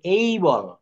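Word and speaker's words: able: এটাকে আমরা অ্যাবেল বলি, আমরা যারা ইন আওয়ার কান্ট্রি। এটার রাইট উচ্চারণ হবে এই বল।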